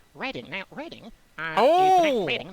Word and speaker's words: Reading: Now we can move on from Swindon to perhaps say Reading.